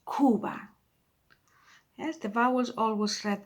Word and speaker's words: Cuba: Cuba, so it's not Cuba, it's Cuba.